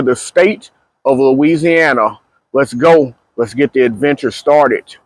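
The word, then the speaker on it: Geaux: pronunciations the Cajun pronunciations the the eaux like is in go g-e-a-u-x go titles go Saints so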